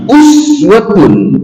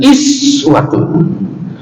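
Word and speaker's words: أسوة: Kata uswah itu ada dibaca laqad kana lakum fi rasulillahi uswatun dengan dhammah, boleh juga dibaca dengan iswatun.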